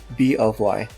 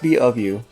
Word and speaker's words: B.O.Y: feel like idiots so with the way the hangul reads it's pronounced b of y oh bfu i mean b of you yeah it's pronounced b of you so yeah uh so